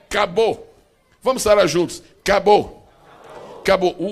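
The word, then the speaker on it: כבוד: uma palavra que nós vamos aportuguesar a pronúncia. Vamos dizer assim, bem facilmente. A palavra glória é cabô.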